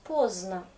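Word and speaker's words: поздно: Ça s'écrit avec D, mais je prononce pozna et c'est plus facile.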